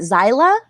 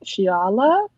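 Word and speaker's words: Xiala: can't remember, is it Zyla? Is that how you say it? I think I looked up how to pronounce her name and it says like Shiala.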